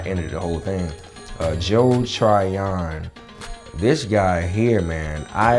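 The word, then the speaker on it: Joe Tryon: it oh oh and joel try on i gotta say it right joe trion man joe trion this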